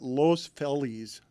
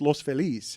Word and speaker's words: Los Feliz: Everyone there calls it Los Felis, and I'm like, it's Los Feliz.